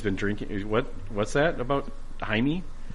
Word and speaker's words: Jaime: What's that about Jaime? That's the Spanish pronunciation. Jaime of is a- Jamie. Jaime. Yes. Yeah, it's the Spanish Jamie.